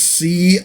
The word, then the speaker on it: C'baoth: But it is C''BAOTH, C'baoth. Baoth. If you go with sort of a romantic pronunciation of it, and take in the apostrophe as something going on there.